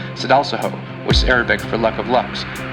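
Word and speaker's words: Sadalsuud: The brightest star in Aquarius is pronounced Sedalsaho, which is Arabic for luck of lucks, and the brightest star in Pegasus is pronounced Epsilon Pegasi.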